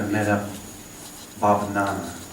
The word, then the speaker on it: Metta-bhavana: The loving kindness practice that we've just gone through is a takeoff of an old practice called Metta-bhavanana.